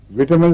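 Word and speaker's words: vitamin: विटामिन भी पढ़ा जाता है ऑफिशियली, यानी एक्सेप्टेबल, और वाइटामिन भी।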